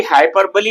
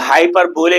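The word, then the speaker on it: hyperbole: हाइपरबली आपको पता चल गया, हाइपर बोले नहीं बोलना, स्पेलिंग को देख के लोग हाइपर बोले बोलेंगे। हाइपरबली, हाइपरबली अतिशयोक्ति अलंकार, बढ़ा चढ़ाकर बोलना जो संभावना हो।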